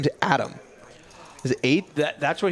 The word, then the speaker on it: Atem: name his name is Adam is eight that that's what he told me it's it's spelled a-t-e-m but it's Adam which I would have called ATM A10 yeah because this is